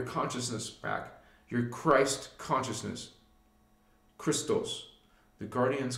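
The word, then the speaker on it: Krystos: You want your consciousness back, your Christ consciousness, Christos. The guardians call it Christos. And we spell it K-R-Y-S-T-O-S.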